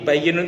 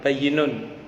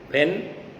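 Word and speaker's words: بَيِّنٌ: Nah, tapi bayyinun itu bahasa Arabnya ditulis ba ya nun bayyinun. Kalau orang Jawa Timur yang agak nakal bacanya halal ben, haram ben. Bayinun itu ben.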